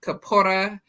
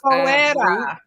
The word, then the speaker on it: Capoeira: We had entertainment, a group called Capora, and I'm probably not saying it with the correct, accent on the correct letters, but it was a Afro-Brazilian kind of like martial arts dance. Capoeira. That's what it is.